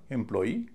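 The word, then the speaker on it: employee: और नियम कहता है कि जिन शब्दों में डबल ई हो अंत में उसमें आखिरी सिलेबल पर स्ट्रेस पड़ेगा। यानी डबल ई पर स्ट्रेस पड़ेगा। उसे भारी बोला जाएगा। और इस शब्द का उच्चारण होगा एंप्लई या एंप्लई। अगर एंप्लई होगा तो दो हिस्सों पर स्ट्रेस होगा। पहले पर भी और अंतिम पर भी।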